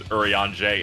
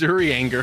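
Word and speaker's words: Urianger: Fantasy 14 yeah oh is that how you pronounce that name yes what are you kidding I've been reading it as Yuri anger the whole time I almost there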